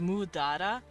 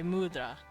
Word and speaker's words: mudra: This is technically spelled mudara, but they kind of don't pronounce the da part, they just say mudra.